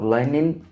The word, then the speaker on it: lining: Reparem aqui, sempre quando acaba com ing, né, a gente não pronuncia o G, tá? Não pronuncia. Mas o N a gente pronuncia. Então aqui a gente vai conectar o N com up. Vai ficar lining up. N com up, nup. Então, lining up.